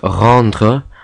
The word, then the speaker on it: rendre: R, this is the infamous French R, which is pronounced r, like in rendre, not r.